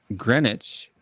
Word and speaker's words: Greenwich: yeah and then there's you have greenwich which we don't pronounce the w but it is spelled